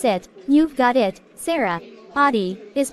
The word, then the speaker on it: Aadi: sure yes that's right the first part A is like the uh sound in Father try saying ah ah